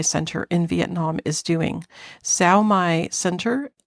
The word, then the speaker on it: Sao Mai: Sao Mai Center, Sao Mai is spelled SAOMAI Center. So those are SAO is one word, MAI is the other word.